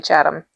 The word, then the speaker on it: Chatham: Um, Chadam, it's spelled like Chatham. Yep. We say Chadam.